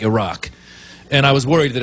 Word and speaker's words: Iraq: It's not Iraq, it's Iraq.